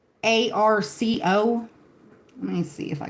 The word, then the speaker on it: pau d'arco: The Spanish pronunciation, pau, yes, the U is pronounced like an U. Pau. Pau d'arco. Pau d'arco. Pau d'arco. In English, it's rather simply pronounced as Pau d'arco.